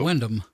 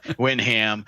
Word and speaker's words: Wyndham: And it's called Wyndham. It's Wyndham. Yeah, it's Wyndham. I misprint Windham. I'm Wyndham, whatever, man. It's close. It's WIND ham or something like that. Yeah, spelled with a Y.